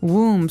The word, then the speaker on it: womb: Womb. So this might look like a very hard word to pronounce. There's a b there. So, w m we don't pronounce womb. We say womb.